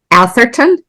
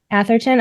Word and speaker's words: Atherton: Lee how do you say your last name Atherton Atherton okay that's how I was pronouncing it in my head so awesome so